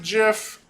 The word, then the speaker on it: GIF: is a gift right some of you pronounce it jiff I honestly don't judge